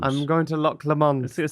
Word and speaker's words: Loch Lomond: I think I said Loch Lomond. Which sounds a lot better. Yes, Loch Lomond. I'm going to Loch Lomond.